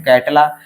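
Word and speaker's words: Catla: Next है कैटला, कैटला को हम काटला ही बोलते हैं, कैटला का कॉमन नेम काटला ही है, सिर्फ स्पेलिंग का फर्क है।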